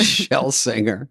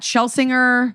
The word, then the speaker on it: Shlesinger: That's Shlesinger. There you go. Miss Iliza Shlesinger. What's the most common mispronunciation, or is there one?